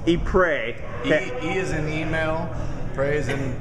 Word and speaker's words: Ypres: deep ray and that really is how is pronounced ce3 he pray he pray that is an email praising pretty god but